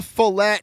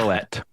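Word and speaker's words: Floette: this new Chaos Rising set is the Mega Filelet EX. Close. Flet.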